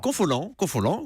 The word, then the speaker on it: Confolens: un festival de danse et de musique à Confolens. J'espère que je prononce bien. Confolens, oui.